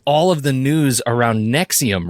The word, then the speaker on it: NXIVM: But if you look for Allison Mack in Nexium, and it's spelled NXIVM, this self-help group, you'll find all